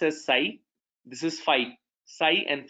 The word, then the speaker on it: psi: So psi x, this is pronounced as psi, this is phi, psi and phi.